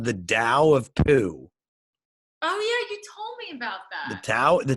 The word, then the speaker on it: Tao: glowing almost it was it was called the Dow of Pugh the Tao the Tao ta o